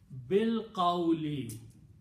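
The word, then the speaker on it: بالقول: So this word, when you read together, don't pronounce this alif. Bil qawli.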